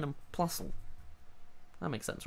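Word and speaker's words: Plusle: Minun and Plusl. That makes sense, right? Yeah, that's how you pronounce their names.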